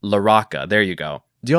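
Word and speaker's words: Larocca: I wanted to Latinify it and pronounce it Laroka, but I I watched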